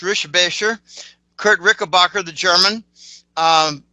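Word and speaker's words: Richebächer: Um, I've actually met Kurt Rickabbacher, which is actually pronounced Rishbasher.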